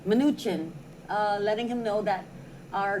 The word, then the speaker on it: Mnuchin: Mnuchin. Mnuchin, letting him know that our governor is misinterpreting the law and misinforming the people of Guam.